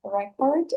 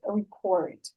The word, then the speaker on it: record: Все зависит, значение слова зависит от ударения, куда вы его поставите. Если вы хотите сказать запись, то вы говорите record. Если вы хотите сказать записывать, то вы называете это слово с ударением на cord, record.